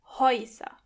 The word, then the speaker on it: Häuser: As you can hear, when the letter a umlaut comes before the letter u, together they are pronounced oi. Häuser.